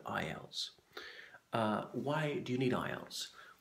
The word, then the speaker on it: IELTS: system it's an acronym IELTS is pronounced as a word IELTS why do you need